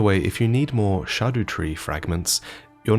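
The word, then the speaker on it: Scadutree: regarding its correct pronunciation apparently the word shadu comes from Old English and means shade or Shadow so this is a shadow tree and it's pronounced shadu tree or Shadow tree I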